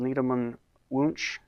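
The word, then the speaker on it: Needleman–Wunsch: technique or algorithm is called needleman-wunsch I guess that's how you say it and the local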